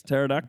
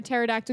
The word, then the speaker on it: pterodactyl: They're like, oh, like why can't you hear a pterodactyl go to the toilet because the P is silent?